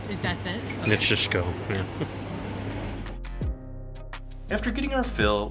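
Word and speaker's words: Nikšićko: We asked them how to pronounce it, but I wouldn't even know how to pronounce it. Nitschishko. That's it? Okay. Nitschishko, yeah.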